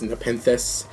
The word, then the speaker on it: Nepenthes: Then the last ones is just 1 Traptrix Atrax and 1 Traptrix Nepenthes. That's how you pronounce it, just in case you're wondering.